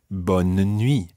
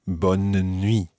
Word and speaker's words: bonne année: in the middle or other times it may be bonne année with almost a mini syllable in the middle there bonne année and that just really depends where you are either way is correct burning me bonden me